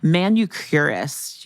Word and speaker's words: Manucurist: Manucurist, that manicurist, manucurist. Yes, I spelled it once wrong in a story and it got published and I still feel bad about it. Oh no. It's spelled, guys, it's manicurist, but instead of the I, it's a U.